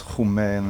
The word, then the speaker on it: Homme: own goddamn name wrong it's it's omen French which means man right so but in Norway it's who man then you get all the way here and that's Holly and my dad told